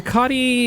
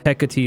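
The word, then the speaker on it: Hecate: Hiccotti is probably how I hear it say said most uh often, but Hecati is also pretty I've heard it quite a bit cuz like there was a what was the company?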